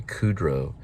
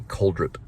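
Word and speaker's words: Crudup: I used to call him Billy Kudrow, but it's Billy Coldrup.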